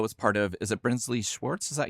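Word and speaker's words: Brinsley Schwarz: But, Nick Lowe was part of, is it Brinsley Schwartz?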